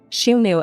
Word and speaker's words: Xiongnu: get straight into it she knew as it's pronounced in Mandarin was the dynastonym of